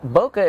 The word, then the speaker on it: bokeh: bokeh, but bokeh I believe is the correct pronunciation. Bokeh is very evident when you have a very shallow depth of field.